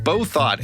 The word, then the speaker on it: Bouthot: and my guest this week is amber beau thought amber did i pronounce that correctly i am so proud of you you're one of very few in the span of my lifetime as amber both thought that has ever pronounced it correctly so well